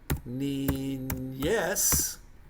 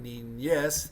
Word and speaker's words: niñez: Número 12 would be niñez. N-I-N-Y. Well, that's the N with the little squiggly mark over it, which we pronounce that word like a ñ, like N-Y, niñez, E-Z.